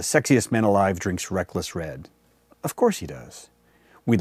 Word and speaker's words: Wred: west uncork adventure and remember the w is silent anyway always a good